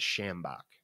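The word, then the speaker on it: sjambok: You know, my favorite gimmick, though, is a thing called the shambok, which is spelled S-J-A-M-B-O-K.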